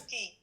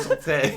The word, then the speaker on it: sortie: Sortie. Oh, he got it right. I thought it was sauté.